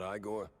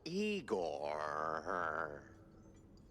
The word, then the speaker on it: Igor: I'm E I not Igore. No, Eigor. Why so many Rs? It's harder to pronounce, as the classics would say.